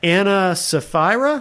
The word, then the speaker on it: Ana Sapphira: Anna Safra.